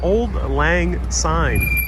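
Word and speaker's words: Auld Lang Syne: it's delicious brianne uh brienne says it's pronounced old lang old lang sign old lang sign thank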